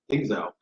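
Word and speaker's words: Dzingel: They got Ryan, how do you pronounce it? Dingzel? Dingzel.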